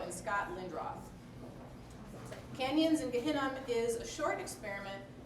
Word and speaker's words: Gehinnom: And I asked him about the pronunciation, so it's right. Canyons in Gehinnom.